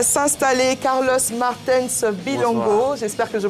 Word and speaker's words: Carlos Martens Bilongo: On va l'inviter à s'installer, Carlos Martens Bilongo. J'espère que je prononce bien.